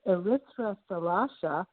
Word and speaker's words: Erythra Thalassa: would just emphasize that eritra salasa which is the first part of the title of my uh recently released book it is a greek title which is uh the